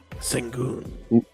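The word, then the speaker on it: Şengün: Sengun. Thank you. How do I say it? Double. Well, yeah, something like that. No, Yeah. you like Sengun.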